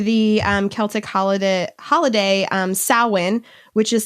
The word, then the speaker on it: Samhain: roots back to the um celtic holiday holiday salwyn which is spelled i s-a-m-h-a-i-n it's not pronounced samhain but that's what it looks like it's not no it's samhain are you serious yes dead serious i was